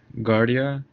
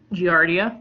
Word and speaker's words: Giardia: there's six of them what's one of them guardia giardia yeah pronunciations all over the place class medium the